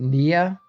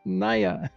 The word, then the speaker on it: Niacris: the Sun Temple by Niacris. Niacris. Yeah. Niacris. Niacris. Okay. Yeah. So I think Americans pronounce it Nia, and they would get upset. It's like, it's not Nia, it's Naya. Naya.